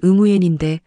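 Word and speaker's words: Nguyễn: 제 이름은 응우엔인데 응구엔이라고 발음하셨습니다.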